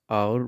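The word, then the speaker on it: hour: इनसे पहले द लगेगा एथ और नाइंथ में एट साइलेंट है इसलिए आवर पढ़ेंगे तो आवर में आ जो है आपका वो स्वर हो जाता है इसलिए इनसे पहले एन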